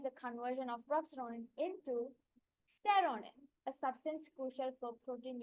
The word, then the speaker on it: Xeronine: By the way, this seronin is it's spelled as XERONINE, by the way.